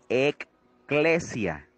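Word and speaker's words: ἐκκλησία: la palabra iglesia de la lengua primitiva se pronuncia ekklesia y está conformada por tres palabras antiguas que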